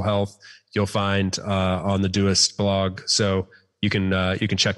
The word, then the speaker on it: Doist: So the company is Doist, Doist, often pronounced Doist, but it is Doist.